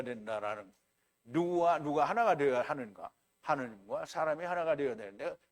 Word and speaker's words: 하느님: 하늘님이에요. 하느님, 그러니까 하늘님인데 그거를 연하게 발음을 하면 하느님이 되는 거예요.